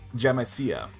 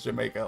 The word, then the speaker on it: Jamaica: It I pronounced it as jamsia. And then once the teacher was like, "No, it's pronounced Jamaica."